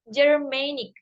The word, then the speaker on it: German: a other example is of the word ger Germanic where the stress is on Main M um